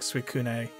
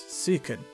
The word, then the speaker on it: Suicune: I think I was pronouncing the E last week when I said it, like Suicune. Like Kitsune, you know? No, it's Suicune.